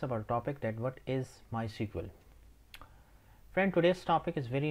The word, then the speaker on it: MySQL: and the instagram as well so what is my sequel actually a friend first thing first you have to know how to pronounce my sql sometimes uh people call it my sequel or